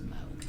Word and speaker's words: Moog: I should say Moog actually, because Moog, the inventor of the keyboard, is pronounced Moog.